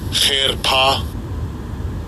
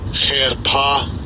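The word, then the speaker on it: חרפה: I'll give you a pronunciation of it. Strong's H2781. Cherpa. Cherpa.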